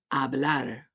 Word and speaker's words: hablar: Hablar, hablar.